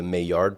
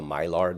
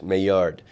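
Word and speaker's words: Maillard: it, you do the mayard process. Some people may call it the myard because that's the way it's spelled, but it's a French name. So it's mayard and and that requires amino acids, reducing sugars, and heat.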